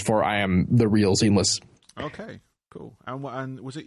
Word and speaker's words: SeamlessR: So I adopted SeamlessR as being the actual, like that's literally the name, and then the joke is the R is silent.